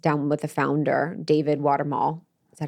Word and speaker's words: Watumull: got to sit down with the founder, David Watumull. Is that how you say it? Mm-hmm. Okay. So I actually got to sit down with the founder, David Watumull, and break down the science and break down